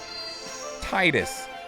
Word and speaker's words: Titus: more sense that way Titus like the tides Titus